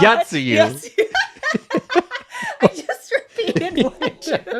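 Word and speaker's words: Yotsuyu: Yatsuyu.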